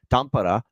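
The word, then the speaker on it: Tampere: of two games in tampara as it's pronounced over in Finland between Dallas and Florida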